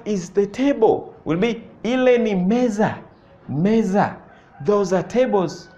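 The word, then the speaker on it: meza: say in that is the table will be Meesa Meesa those are tables Z Meesa m e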